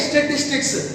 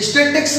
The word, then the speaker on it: statistics: एक तो इसका जो वर्ड है ना, ये स्टैटिस्टिक्स, इसको बच्चे जब प्रोनाउंस करते हैं तो कई बार गलत बोलते हैं। स्टैटिस्टिक्स बोल देते हैं। स्टैटिस्टिक्स नहीं होता बेटा, ये स्टैटिस्टिक्स होता है।